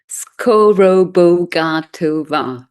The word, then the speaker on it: Skorobogatova: Skorrova.